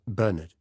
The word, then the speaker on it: Bernard: He always said Bernard with the accent on the second syllable.